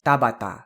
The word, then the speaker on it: Tabata: you pronounce the T all of those syllables with exactly the same amount of stress it's not Tabata it's Tabata and then there's Yuki